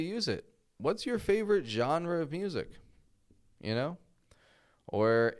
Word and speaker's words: genre: g n r e genre okay now of course maybe you've pronounced this Jenner I hear that often Jenner we don't want to say Jenner or anything like that but jean genre so the genre of